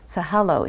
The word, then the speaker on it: Sahalo: You also have here tonight Daniel, pronounce his last name. Sahalo.